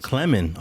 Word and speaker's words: Clemon: You're saying it wrong. His name is Clemon Johnson. Clemon.